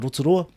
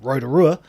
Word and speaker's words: Rotorua: or tiarawa country or rotorua you know because everyone was saying rotorua you know it only felt right to fit in and say rotorua as well rather than rotorua yep and i've done